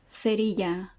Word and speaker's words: cerilla: Please note the th and the thi pronunciations are typical from Spain and are rarely heard in Latin countries where they are pronounced with an S instead, as in se and si.